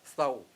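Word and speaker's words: thau: Why does God order to make a sign of the cross on their forehead, the thou, T-H-A-U, pronounced thou.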